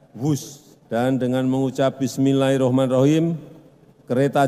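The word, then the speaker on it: Whoosh: operasi optimal sistem hebat sekali lagi b h o o s h tapi membacanya wus dan Dengan mengucap Bismillahirrahmanirrahim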